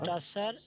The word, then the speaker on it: Tsar: Tsar and এটা উচ্চারণটা জার হবে। Tsar হ্যাঁ, Jar.